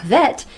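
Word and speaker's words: hwæt: undergrad i'm pretty sure vet is pronounced with a soft w and a short flat a sound the honest to god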